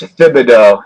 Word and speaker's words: Thibodeau: Coach Thibodeau, and we call him Tibbs for short.